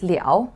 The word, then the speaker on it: 了: right after so here when it's pronounced as liao like i said it